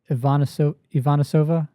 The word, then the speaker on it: Ivanisova: Well, Julia Ivanisova, did I say it right?